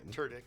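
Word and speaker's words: Tudyk: all right Alan TK which is the correct way to pronounce the name turck yep I know you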